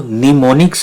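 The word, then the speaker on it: mnemonics: इसमें am silent है और इसको निमोनिक्स आपने पढ़ना है।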